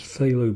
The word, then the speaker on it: phthalo: h a l o who invented a word that has two forms with a F and a th at the beginning I don't know but